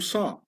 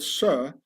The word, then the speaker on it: sir: a juke all from Sa. This is why in posh upperass British the word sir has to be pronounced sa and not sir.